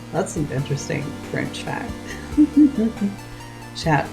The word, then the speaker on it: chat: an interesting French fact chat in French is cat but the te is silent in French and Fizzy's like approve